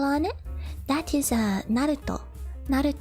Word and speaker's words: Naruto: Naruto not at all you pronounce every syllable instead of like Naruto or Naruto if you go Naruto then got reduced or if you say Naruto becomes reduced but it's it's all pronounced it's